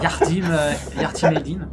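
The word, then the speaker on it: Yardım edin: Yardim Edin, pour vous donner un petit peu du coup l'idée de la prononciation.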